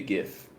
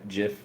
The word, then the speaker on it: Giff: It's GIF. That- It's good. GIF, like Google. GIF and Google. It's a G. It's G. It's G. It's not a J. It's not a GIF.